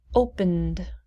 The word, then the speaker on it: opened: the id closed closed opened opened we go directly from the n to the d opened no id sound how did you do